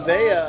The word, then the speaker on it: Nevaeh: Nevaeh, that's how you Kylie Ray.